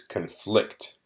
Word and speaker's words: conflict: be a verb, and when it's a verb, the stress is on a different syllable. So as a verb, it is conflict, conflict.